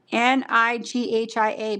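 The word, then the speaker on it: Nghia: Nighia, but you don't pronounce the N.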